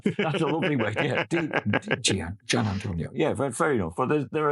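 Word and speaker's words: Di Giannantonio: I used to say Di Antonio, and then I heard someone say Gian Antonio, and I thought, oh, that's the way.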